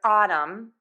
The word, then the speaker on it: autumn: The M sound can be spelled with the letter M, as in my, M-N, like we see in the word autumn, or M-B, and this is at the end of words, in the word limb.